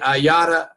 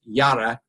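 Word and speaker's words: Yara: And the information I'm going to share with you later on storytelling was taught by Yada. It's pronounced Yada with a D. It's pronounced with a D, but it's spelled Y-A-R-A, Golden.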